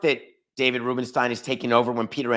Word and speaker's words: Rubenstein: as in David Rubenstein I may have mispronounced his name yesterday I may have said Rubenstein I have a I have a cousin the Rubenstein I may have called him Rubenstein but it's actually Rubenstein David Rubenstein has bought